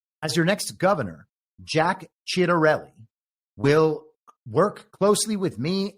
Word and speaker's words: Ciattarelli: studied in college and assume the correct Italian pronunciation here is Ciattarelli.